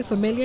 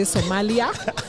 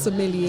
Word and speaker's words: sommelier: There's some media interviews that have been done when people say Somalia. If that makes you remember, it's fine. But the word is sommelier. Sommelier.